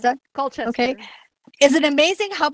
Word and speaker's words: Colchester: His Colchester Historical Hub, I don't know how to say, did I mispronounce that? Colchester.